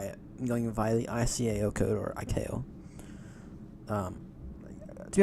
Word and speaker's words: ICAO: an airport I have no clue how to pronounce. 100% crystal clear that I'm going by it. I'm going via the ICAO code or ICAO.